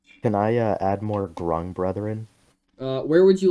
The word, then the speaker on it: Grung: ends no no no it ends with a g instead of a k yes rhyme with grunge thanks i hate it